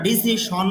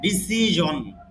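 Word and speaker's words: decision: Your ডিসিজন, যদিও আমরা ডিসিশন বলি, শুদ্ধ উচ্চারণ ডিসিশন না, ডিসিজন, ডিসিজন মানে সিদ্ধান্ত।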